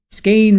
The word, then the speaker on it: Skein: Skein rhymes with rain.